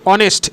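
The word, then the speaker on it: honest: আর আরেকটা হচ্ছে অনেস্ট।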